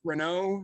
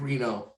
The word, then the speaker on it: Reno: Is it Mike Renault? Mike Reno. Reno. Mike Reno? Okay. It's not the French name.